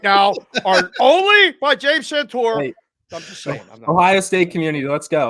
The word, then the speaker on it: Santore: you say your name correctly I bet James santor that's James santor from Rhythm Sports saying that Michigan is a fraud views expressed right now are only by James santor Ohio State Community let's go let's have some